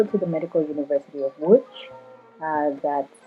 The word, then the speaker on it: Łódź: Okay, I go to the Medical University of Łódź. That's spelled Lodz.